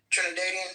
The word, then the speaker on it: Trinidadian: Trinidadian. Trinidadian. Trinidadian. I think I got it. Boom. Trinidadian. Yes. Trinidadian.